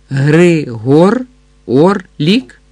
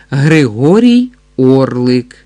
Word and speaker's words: Григорій Орлик: Григор Орлік? Гість старанно по складах вимовляв це ім'я, як і належить іноземцеві. Ні-ні, графе, Григорій Орлик. Григорій Орлик, старанно повторив гість, для правдоподібності все-таки зробивши наголос на останньому складі прізвища.